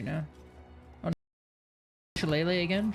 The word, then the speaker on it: shillelagh: Shillelagh again? Shillelagh.